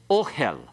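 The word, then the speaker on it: אֹהֶל: Okay, ohel. Ohel is, and notice the accent has to be on the O part there.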